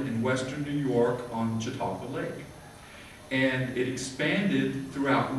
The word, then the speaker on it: Chautauqua: is a chocolate and how do you say it chautauqua and the jatropha movement